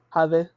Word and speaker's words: Jade: She pronounces it in Spanish. How does that? Jade.